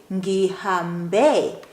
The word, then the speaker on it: ngihambe: However, imagine an H at the end of the past tense verb that ends with an E. Imagine there is an H there. So, ngihambe. That will help you with pronunciation or enunciating that last E.